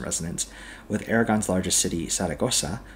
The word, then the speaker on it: Zaragoza: with Aragon's largest city, Zaragoza, or Zaragoza if you want to pronounce it like a madrileño, only having 667,000.